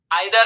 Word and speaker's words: either: Topic जिसका नाम है आइदर और नाइदर नॉर। इसी को कुछ लोग जो है इस प्रकार से भी प्रोनाउंस करते हैं इधर और नीदर नॉर।